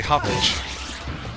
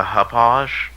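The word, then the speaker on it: Hauppauge: It's a hoppage. A hoppage. There you Or go. a hog, or whatever you want to say. I'm gonna pronounce it the huppage.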